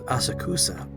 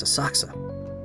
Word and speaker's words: Asakusa: be a festival in a saxo tomorrow now i'm thinking of attending it took me a long time to learn how to pronounce that one i always thought it was asakusa it's a saksa i'm thinking of attending